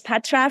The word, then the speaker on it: Patra: and my name is Patra the way you pronounce it is like Cleopatra and I am excited